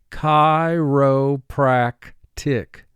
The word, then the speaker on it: chiropractic: practice is very successful chi rho prak tick four syllables first syllable chi two sounds ch is representing its second sound pr is a blend